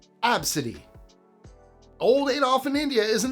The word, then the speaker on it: Abcde: It's pronounced Absidy by some families, and the inspiration 100% comes straight from the first 5 letters of the alphabet.